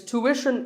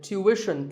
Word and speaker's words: tuition: It's tuition in American English and tuition in British English. So what's the hidden sound here? Well, the first syllable is easy. Tu, American, or tu, British. But after that, it's not ishin, it's wishin. Tuition. You have to put the w sound there.